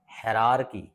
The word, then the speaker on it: hierarchy: चलो अब जैसे एक शब्द ऊपर दिया, ये देखिए HIERARCHY, HIERARCY, इसे क्या पढ़ेंगे, कोई बताएगा, इसे पढ़ेंगे हेरारकी, क्या पढ़ेंगे, हेरारकी, इसे पढ़ेंगे हेरारकी, हेरारकी, मैंने ऐसा लिख दिया सरल शब्दों में, हेरारकी, इसे पढ़ेंगे हेरारकी।